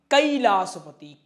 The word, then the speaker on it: कैलाश पति: का अध्ययन किया है वो कभी भी इसको कैलाशपति नहीं बोलते हैं। इसको क्या बोलते हैं? कैलाश पति ही बोलते हैं।